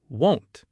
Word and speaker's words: won't: But won't, the negative of will, has a round closing O sound, won't. Listen to them side by side. I want to go versus I won't go.